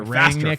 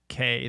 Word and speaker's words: Rangnick: Look, it's apparently it's Rangnick. So it's like I read it Rangnick, faster than that, right? but it's like Rangyick.